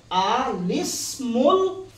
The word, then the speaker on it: الاسم: করে পড়ে নিতে হবে এটার শুদ্ধ উচ্চারণ হচ্ছে আলিসমুল এটা কি স্মরণ থাকবে আরো তিনবার বলে এটার উচ্চারণ কি হবে আসলে তাসবিদের মধ্যে এই পদ্ধতিটা প্রথম এলিকা রয়েছে।